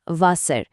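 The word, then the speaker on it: Wasser: যেমন ডাব্লিউ এর উচ্চারণ হয় ইংরেজির ভি বা বাংলার ভয়ের মতো, যেমন ভাসার। জে এর উচ্চারণ ইয়ার মতো, যেমন ইয়ার।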